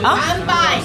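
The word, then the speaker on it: 乾杯: 간바이.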